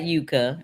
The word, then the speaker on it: Yuka: you'll get a earful yeah everybody be safe Yuka is really for the oh no no no not that Yuka it's it's just a it's yeah I know